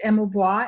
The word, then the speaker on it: émouvoir: Now, the word emotion actually comes from a French term, the old French word meaning émouvoir, pronounced émouvoir, and it means to stir up.